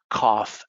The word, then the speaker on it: cough: And then sometimes the GH becomes an F, cough, enough, laugh, rough, tough.